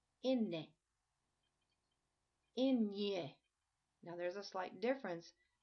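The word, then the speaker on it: eñe: This symbol changes the pronunciation to a ny sound, kind of like we say canyon in Spanish.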